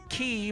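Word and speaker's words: Cay: coming to visit us we know it's pronounced key by the bahamian people we get it it's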